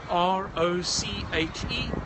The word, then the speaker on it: Roche: My name is Roche, and that's spelled like the medicine brand, R-O-C-H-E, Roche if you prefer, R-O-C-H-E.